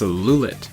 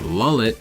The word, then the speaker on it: Lulit: Next up we have Cherry Bullet, whose fandom name is Lulit. Yes, it's pronounced Lulit, not Lullet, and it's meant to be a short form of Love Cherry Bullet.